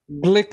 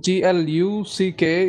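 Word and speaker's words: Glück: um you have this particular individual louis elizabeth glick her name is the last name g l u c k is pronounced glitch and not gluck or glue she is blick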